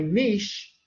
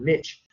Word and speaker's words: niche: And they were able to each one fill a niche. Some people pronounce that word niche. Again, I was taught niche.